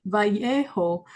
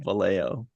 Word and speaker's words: Vallejo: the Bay Area okay because I said it Vio the way SP people would say it the way it probably should be pronounced but that's the locals call it valo okay gotcha anyway i'